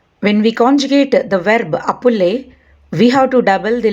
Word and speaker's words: appelle: That means the endings o, os, and ont, these endings are not pronounced, and it is just the appel part that gets pronounced. So all these verbs have the same exact pronunciation, appel. We don't need to pronunciate the letters that marked in red.